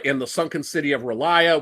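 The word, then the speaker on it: R'lyeh: sunken city of Ria, which that's another word that it's really easy to pronounce 500 ways I say Ria. Other people say it different ways. And again, these are all meant to be unpronouncable words, so they're all equally valid.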